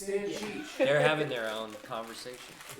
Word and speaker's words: Stancic: Maddie's a dear friend, but I still mispronounce her last name. It's Stancic.